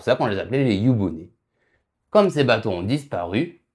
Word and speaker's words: 湯船: Non, c'est yubune. Ah ouais? Jamais entendu parler, il s'écrit comment?